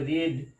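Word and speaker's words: read: টা হবে রিড কিন্তু ভি টু আর ভিথ্রি সেম স্পেলিং কিন্তু উচ্চারণটা প্রোনাউন্সিয়েশনটা কি হবে রেড তাহলে আমরা বইটা পড়েছি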